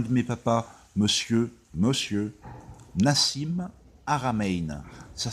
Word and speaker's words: Haramein: Encore une fois, je vous cite un de mes papas, monsieur Nassim Haramein. Ça s'écrit H-A-R-A-M-E-I-N.